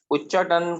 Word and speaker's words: उच्चाटन: अगला उच्चाटन, उच्चाटन का जो प्रोनाउंसिएशन है वो ऐसे होगा, ऊ, ये थोड़ा सा आधा है, ठीक है, टन, उच्चाटन, ऊ, मैं इंग्लिश हिंदी